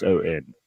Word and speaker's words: Tucson: Right, and you spell it Tucson. Yeah, it's like Tucson. Oh, like the car.